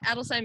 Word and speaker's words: Adelsheim: Adelsheim is David's last name. It translates to noble home or home of nobility. And we like to think of it as two words.